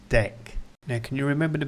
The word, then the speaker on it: deque: the start, so that's deque. Looks like de-que, we use it for queues, but it's pronounced 'deck'.